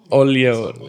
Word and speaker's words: Oyelowo: Oyelowo, yeah.